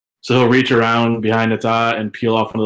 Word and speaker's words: Nata: Nata.